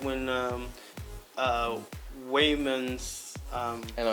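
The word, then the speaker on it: Waymond: their fight scenes, even Expendables, even like when Wayman's I know, I, character is like I always want super to say Raymond too.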